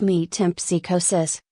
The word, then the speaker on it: metempsychosis: the process of metempsychosis pronounced meat temp psychosis which is more commonly known as reincarnation or reinvent it becomes necessary at this point to call your attention to the general subject of metempsychosis for the reason that